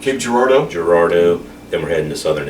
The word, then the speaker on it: Girardeau: tomorrow morning orange and Cape how do you pronounce Cape Girardeau Gerardo then we're heading to southern Illinois and then